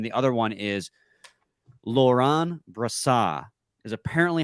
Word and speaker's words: Brossoit: to pronounce hockey reference phonetic pronunciation is Laurent Brasa Laurent bra Brasa there you go you keep trying to throwing a w in there I I know because